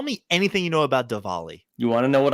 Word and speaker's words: Diwali: Zach, happy Diwali. That's how you pronounce it. Tell me anything you know about Diwali.